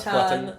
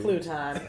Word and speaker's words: Pluton: It's our friend Clara Pluton. Hi. Did I say it right? Yeah, Not Pluton. No, crouton, futon. Easy. Pluton.